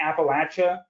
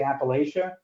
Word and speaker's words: Appalachia: so I've found that the people who say Appalachia are more passionate about the pronunciation than those who say Appalachia so I stick with Appalachia but I've heard both and I think that both are correct well you know when